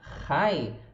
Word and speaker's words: high: Nas palavras habit e high, a gente vai pronunciar aqui habit, hábito, e high de alto. Pode ser high de oi também, né? Esse GH não é pronunciado.